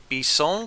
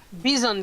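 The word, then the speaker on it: Bisson: i can find the stop me if i i'm mispronouncing this but it's called the b song class no what b i s s o n class b zone class thank you thank you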